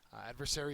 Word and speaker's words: adversary: first word is adversary adversary is a noun the first syllable is accented and it is an